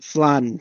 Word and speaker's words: flan: flan for I mean in Spanish it's flan like with the a in it not e f uh what about sassy